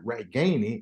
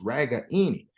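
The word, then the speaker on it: Ragaini: and said hey man my name is not right Gainey it's ragani David you know it's one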